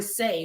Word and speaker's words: Seint: affiliate marketing as well Saint which I thought was cant but it's apparently sa which to me is even worse why is it sa but it's spelled with an E I hate it and